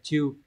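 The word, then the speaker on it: 中: Tương tự chữ Trung có thể đọc là naka hay là chiu.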